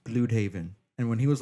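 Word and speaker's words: Blüdhaven: Okay, for one, I knew right away in the comic books in Earth X, Bloodhaven, the city of Bloodhaven is pronounced Bloodhaven.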